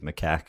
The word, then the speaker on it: macaque: to pronounce it like macaques oh yeah the well you you'd love hit monkey because he is a Japanese macaque right or macaque makup ending on depending on how many of his ex-wives yeah